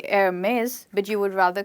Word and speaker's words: Hermès: To pronounce this word, you need to drop the H and you call it Hermès and not Hermes.